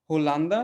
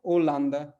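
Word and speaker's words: Holanda: तो यहाँ पे हमने लिखा क्या है? होलांदा, लेकिन हम इसको पढ़ेंगे क्या? ओलांदा, ठीक है, ठीक है।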